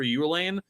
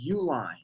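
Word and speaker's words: Uihlein: Matt wolf and Peter Ulan and gave away you Jesus Christ he's been around forever say his name right it's Uline sorry Ben just did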